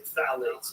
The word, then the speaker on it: phthalates: And when the introduction of phthalates, it starts with P-T-H-A-L-A-T-E-S, I think it's how you spell it. You say phthalates, and phthalates are a